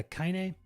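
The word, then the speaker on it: Kainé: looks really cool and cybertank says you are pronouncing it right cool referring to kaine kaine i still have to i don't know where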